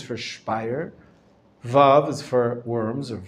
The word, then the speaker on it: Worms: Shin is for Speyer, Vav is for Worms or Worms, and Mem is for Mainz or Magenza, the way they used to pronounce it, or the way we pronounce it sometimes today.